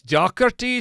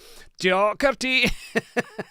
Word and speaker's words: Docherty: I wasn't certain if it was Docherty or Doughty or Doherty or Doherty. I don't know, but now I know it's Docherty, so I shall endeavour to say it properly like that from now on.